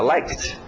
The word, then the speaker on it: liked: Às vezes é só o som de um t, como like, fica liked. Né?